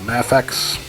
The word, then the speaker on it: Mafex: our way from like DC Direct, from Mattel, Mafex.